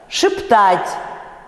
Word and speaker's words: шептать: и опять после ц на месте ударного э произносят звук, опять уже известный, звук и с призвуком э. Ну то есть шепчет, там у вас э под ударением, да? Шептать, шептаться, вот между и и э. Целует, жевать, вот именно так, да?